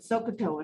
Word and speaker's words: SOHCAHTOA: six trig ratios all right friends magic word sokatoa here it is s o h c a